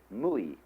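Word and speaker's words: 無為: In Japanese, Mui. I is Japanese of pronouncing the Chinese Wei. Mu is Chinese Wu.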